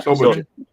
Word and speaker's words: Shobijin: Yeah, Shobijin.